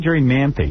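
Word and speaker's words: Jerri Manthey: Is that how you say it, Jerri Manthe?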